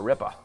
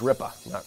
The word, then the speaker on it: ripper: Dude, that's a ripper. And it's pronounced Rippa, not Ripper.